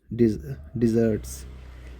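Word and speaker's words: dessert: I love Indian डिज़र्ट्स। एक होता है डेजर्ट, उसमें एक ऐसे नहीं होता। डेजर्ट माना जो मलुस्तर होता है, रेगिस्तान वगैरह। एक तो डिज़र्ट, इनकी प्रोनाउंसिएशन लगे, ये डिज़र्ट है, वो डेजर्ट है।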